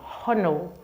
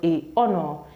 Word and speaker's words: honor: Again, you can have word like honor, the H right there is silent, so we use it's an honor, not a honor.